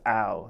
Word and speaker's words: AL: you ask that because a lot of people they'll pronounce it as a l instead of Al but the only reason